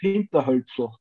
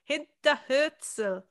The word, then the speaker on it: Hinterhölzl: saying it, is Hinterhölzl. Yeah, that's pretty good, actually. Yeah. How do you say it? actually, we say Hinterhölzl. Hinterhölzl. Hinterhölzl. Okay, it's the Hölz.